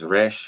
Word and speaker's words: resh: It's resh in modern Hebrew, but what did I call it? Rash. I called it rash with an A.